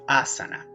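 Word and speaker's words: āsana: como asiento postura morada es importante acá mantener esta larga nos damos cuenta que es una al área porque tiene una barrita arriba que se conoce como macro entonces el sonido es doble a saná sana si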